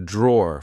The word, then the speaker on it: drawer: e at the end we just say draw here we have my